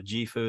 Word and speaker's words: JIFU: the funny name is in any language it's pronounced the same just like mango jifo is the same whether you're in chinese or you're in europe it doesn't matter right